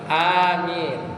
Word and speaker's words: amin: Amin. Ya, jadi A-nya panjang, Mi-nya juga panjang.